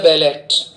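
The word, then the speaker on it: ballet: A double L ईटी इसमें T silent होता है ना in Russia they perform बैले बी A double L ई टी T silence रहेगा बैले बोला जाएगा स्पेन में फ्लेमेंको नृत्य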